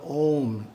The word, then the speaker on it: Om: The first syllable is pronounced Ah. The second syllable is pronounced Oo. The third syllable is pronounced with the front teeth gently touching in the process.